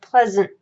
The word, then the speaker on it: pleasant: first one but then your EA shifts to the app you have your s as and your a is represented by a schwa mush wha is an unstressed syllable it is represented by vowels but you don't if you say this word you are not saying Pleasant you're saying Pleasant and it's an unstressed it's just mm it's kind of thrown